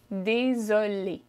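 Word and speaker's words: désolé: is just sweet sweet this one if you're a boy or a girl sounds exactly the same however in writing is different if you're a girl you add an extra an extra e at the end okay but if you're speaking it sounds the same so let's try it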